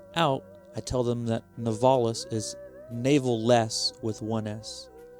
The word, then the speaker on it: Navales: with my last name novalis n-a-v-a-l-e-s and i've had many people mispronounced misspell it over the years i've had navalese novalis with the oh nevildes and and because my first